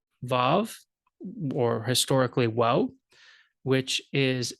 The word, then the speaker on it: Vav: it's going to be Vav, the, and that has to do with the way the Hebrew is spoken in the Holy Land. It's pronounced, the W's are pronounced as V's.